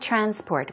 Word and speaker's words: transport: There is no public transport. We're talking about public transportation, for example, okay? Now, you should be careful. Transport. When the stress goes on the first syllable, as I said, transport, it's used in the noun form.